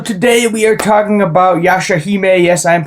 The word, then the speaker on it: Yashahime: So today we are talking about Yashahime. Yes, I'm pronouncing it correctly because I looked it up.